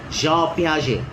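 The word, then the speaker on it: Piaget: But the T remains silent. Page.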